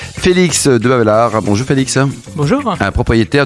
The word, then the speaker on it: Debavelaere: De Bavelaar, ça marche quoi. L'avant-dernier est muet, mais vous l'avez bien prononcé, je vois.